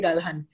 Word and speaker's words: Ralhan: You pronounce my surname Ralhan. Ralhan. Ralhan. Okay, fantastic. Like as it's written, but a lot of people say Ralhan or so Ralhan. There is. So I'm glad you asked me that because it is a common mispronounced surname.